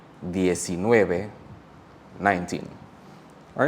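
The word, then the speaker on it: diez: gave me to these so for DS It's not DS but it's rather like th so DS and 12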